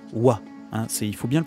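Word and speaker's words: は: Alors attention, la particule, vous voyez, on utilise le hiragana ha, mais ça se prononce wa.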